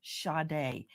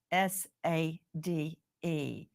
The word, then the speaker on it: Sade: fundraiser for shade's funeral go to Justice for shade and that is spelled s a d e like you would say Sade like Sage it's